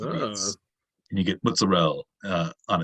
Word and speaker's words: apizza: but they pronounce it a beats, with a B sound instead of a P and no A sound at the end, so it's a beats.